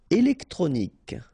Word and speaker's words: électronique: Électronique. Okay, so k at the end. Remember, Q-U-E at the end. K.